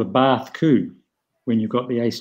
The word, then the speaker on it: coup: this, this particular play is called a Bath Coup when you've got the Ace, Jack, seven. Can you spell that?